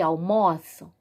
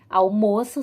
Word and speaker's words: almoço: coloquei entre colchetes né acento no o agudo e circunflexo tu para nós aí vermos a diferença na pronúncia ok do aberto do a fechado lembrando com essas palavras